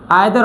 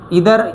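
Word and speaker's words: either: आइदर ऑफ द boys is ready, चाहे लड़के तैयार हों, सही है या ना हो। नीदर ऑफ, इधर या नीदर प्रोनाउंसिएशन की तब्दीली है, एक्सेंट की,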